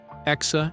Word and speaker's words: X: Born on May 4th, 2020 in Los Angeles X, pronounced ex Asha 12.